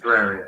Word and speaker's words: Terraria: Terraria. Is that how you say it? Terraria.